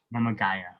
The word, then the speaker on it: Mama Gaia: Mama Gaia. Okay. People pronounce it wrong all the time.